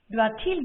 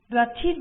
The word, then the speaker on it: doit-il: Doit-il de l'argent? Doit-il de l'argent? As you just heard, the T in doit is pronounced because il starts with a vowel. Doit-il de l'argent?